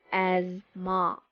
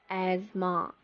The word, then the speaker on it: asthma: We do not pronounce the TH sound here. We pronounce it like this. Please repeat after me. Ma, asthma, asthma, not asthma or asthma.